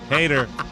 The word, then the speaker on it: Hader: h h e itor is that the correct pronunciation I'm an American he never won an Emmy Award Hader thank you very much everybody we'll take a